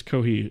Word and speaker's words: Kohi: No, it's it's Kohi as in the Japanese pronunci pronunciation of coffee.